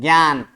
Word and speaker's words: ज्ञान: नहीं है ज्ञान इसमें ग भी नहीं बोल रहे हैं ज भी नहीं बोल रहे हैं क्या होता है ज और ञ से मिलकर ज्ञ होता है और उसी का उच्चारण यहा पर होता है ज्ञान ठीक है उसी प्रकार